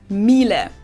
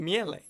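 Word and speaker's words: Miele: wrong in English, but English native speakers usually say something like mil. Um, so it usually sounds more like an a in the end, whereas in German, we say mille mil.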